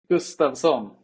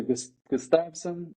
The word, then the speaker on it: Gustavsson: Gustavsson. Gustavsson. Okay. Yeah, that's good. That's better. But you can say Gustavsson or Gustavsson. Or Gustavsson. I'm going to try it, yeah. That's a Swedish pronunciation.